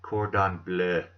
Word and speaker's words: cordon bleu: cordon bleu that's right that's how they say it cordon bleu you probably thought I misspelled blue didn't you let's go get it